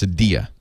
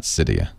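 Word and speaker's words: Cydia: I've been told by soric that it is pronounced Sadia not cyia so that's why I'm saying it so strange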